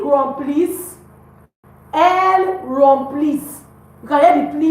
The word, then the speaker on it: remplissent: We don't pronounce the ENT. So we say ils remplissent.